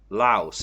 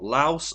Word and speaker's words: Laos: say lao laos or laos i i i've i'm so bad at pronouncing i personally i always say laos laos i say lao i don't yeah i always pronounce the s but i have been